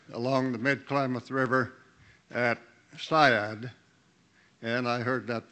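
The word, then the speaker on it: Seiad: and a landowner along the mid-klamath river at syad and i heard that pronounced siad but the pronunciation is syad originally the little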